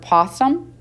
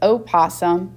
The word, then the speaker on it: opossum: For example, like the word possum, you would not articulate that as opossum because our rule with the O with that word is the rule is silent.